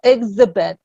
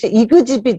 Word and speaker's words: exhibit: 그래서 이 exhibit 같은 경우도 좀 약간 이 그즈를 또렷하게 발음하기 위해서 exhibit 이렇게 하시는 건 괜찮아요. 근데 이제 그 예전식 정말 밀크 벨트 하시는 분들, 이그지빗 이렇게 하시는 분들 되게 제가 많이 만나거든요. 이그지빗 이러시는데 그러지 마세요.